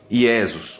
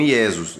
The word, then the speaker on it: Iesus: Por que Iesus? Porque no latim não existe a letra J, nem na língua hebraica, porque são idiomas muito antigos.